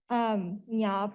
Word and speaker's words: Nya: Nya pronounced like lasagna, if that makes it more, it makes it easier to remember and pronounce.